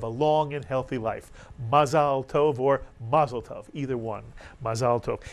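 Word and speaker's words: מזל טוב: on a happy occasion one says in Hebrew mazalov in Yiddish Alex ma maslov exactly right and whether you say mazeltov which is the yiz again of the Hebrew mazalov or you say it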